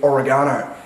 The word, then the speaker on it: oregano: I say oregano. Now some of you are going to be like, that's not the correct pronunciation, it's actually oregano. But mate, it's fucking oregano by the Italians. That's how you pronounce the word, mate. Get it correct. Use the home country.